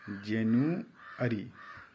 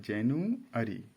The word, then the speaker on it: January: English में उच्चारण इसका जो है जेनुअरी। क्या है? जेनुअरी।